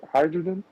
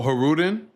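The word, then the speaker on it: Hajrudin: you pronounce his name hydrogen oh oh hudin yeah with them bro you don't never got to pronounce the J in those names bro like Alon and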